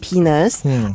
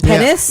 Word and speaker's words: penis: And I I I didn't even know how to pronounce the word penis until I was uh 25. Was it pennis? Yes. I was calling it pennis.